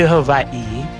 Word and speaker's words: Hawaii: After returning to Hovadi, which is the correct way to pronounce Hawaii, I sold everything I owned.